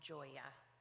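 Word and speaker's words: Gioia: it brushed public comments my last name is pronounced Joya I apologize I'm not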